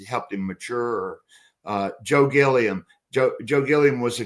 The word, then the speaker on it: Gilliam: Uh Joe Gilliam. Joe Joe Gilliam was a great quarterback. Although I think his name he wanted his name pronounced Gillum.